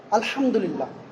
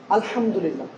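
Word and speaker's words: الحمد لله: আলহামদুলিল্লাহ, আলহামদুলিল্লাহ।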